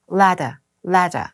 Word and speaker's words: ladder: 근데 ladder에서 영국 언니는 알 발음들을 안 해줘서 ladder 이렇게 되거든요.